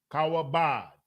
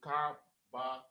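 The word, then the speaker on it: כבוד: Kawabad. Kawabad. Oh, I got It's Ka Ba. Yeah, I had it right. I'm saying it wrong. Ka Ba. Wow. Ka Ba Wa.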